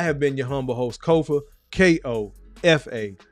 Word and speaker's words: Kofa: I have been your humble host, Kofa, K-O-F-A, not coffee, not Khufu, not Kofi, or any variation thereof. Kofa rhymes with sofa.